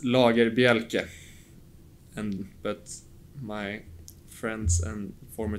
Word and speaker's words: Lagerbielke: Yeah, it's Lagerbielke, but my friends and former teammates call me Lager.